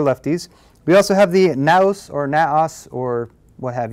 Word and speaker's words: Naos: Let us begin our tour with the, I'm going to call it a NAOS. I'm going to call it NAOS because it rhymes with mouse.